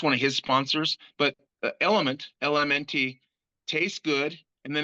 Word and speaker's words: LMNT: the World Strength Games, which is Element, which is spelled like the periodic table of elements. It's LMNT.